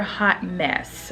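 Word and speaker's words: Haute Mess: i mentioned it before this is their hot mess okay it's spelled h-o-u-t-e-m-e-s-s this is their hot mess color so if you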